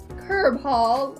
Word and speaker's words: Cearbhall: man such as him curb hall i think it's pronounced is the family name